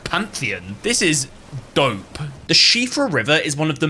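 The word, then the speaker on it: Siofra: The Shiffra River is one of the many expansive underground areas in Elden Ring. Yes, that is how you pronounce it. It's not Seafra, you donut.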